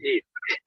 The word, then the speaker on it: Eid: And would you tell us how you correctly pronounce the name of the holiday today? Eid? Yes, the whole thing. Eid.